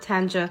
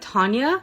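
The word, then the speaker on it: Tanja: T A N J A, but I have a feeling it's not Tanga. I have a feeling it's pronounced like Tanya.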